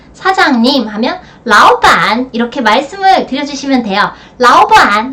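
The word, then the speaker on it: 老板: 역시 삼성과 삼성이 함께이기 때문에 앞에 이성으로 발음되고 뒤에는 삼성으로 발음됩니다. 사장님 하면 라오반 이렇게 말씀을 드려주시면 돼요.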